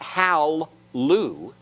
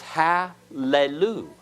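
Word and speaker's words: הללו: will be vocal so it's not Hal Liu it's hallelu isn't that what we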